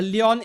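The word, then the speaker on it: Lion: here ah finally a leon enjoyer yeah her name is Leon even though it is spelled l i o n from uh Dan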